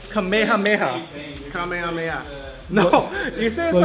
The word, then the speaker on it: Kamehameha: on man huh what why since always tonika kamehameha I just I literally reserved the same exact